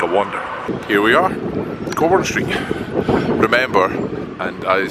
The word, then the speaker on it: Cockburn: Here we are, Cockburn Street. Remember, and I say this in all seriousness, it's pronounced Cockburn Street. Cockburn Street.